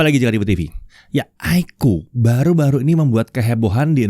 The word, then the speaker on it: iQOO: iQOO, iya bacanya tuh iQOO, iQOO bacanya iQOO.